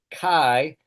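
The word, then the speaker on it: chi: Then fi physics kai a hard ch like in chaos or lock.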